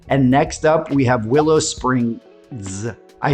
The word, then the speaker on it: Willow Springs: next up we have Willow Springs. I say that because you will hear it pronounced both with and without that final S, and different people have different explanations for why, but that's for another conversation.